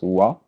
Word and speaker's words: voir: Voir, voir, OIR in French is pronounced voir, sorry.